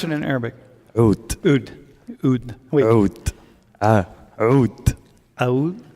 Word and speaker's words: Oud: How do you pronounce it in Arabic? Oud.